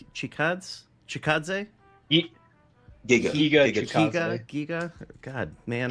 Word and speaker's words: Giga: fingers or something, and after his UD against Giga Chikadze? Giga. God, man. Giga Chad. Giga Chad actually is the correct pronunciation.